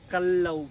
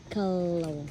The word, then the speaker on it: Callao: po siya o so ciao po yung correct pronunciation ng cave po natin the name of the cave po It's Kalaw po Kalaw kal si Al tapos Lao po kal tsaka law po siya Yes po tinawag siyang